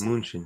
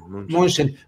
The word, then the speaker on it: Mnuchin: Y aquí está este hombre, exsecretario del Tesoro de Estados Unidos, Steve Mnuchin, ¿o cómo se pronuncia el apellido de este hombre? Sí, Mnuchin. Mnuchin.